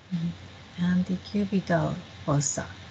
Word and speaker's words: antecubital fossa: Antecubital fossa.